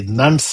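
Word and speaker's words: nones: Nuns is not very easily known. Many people have to spell it, not N-U-N-S, it's N-O-N-E-S.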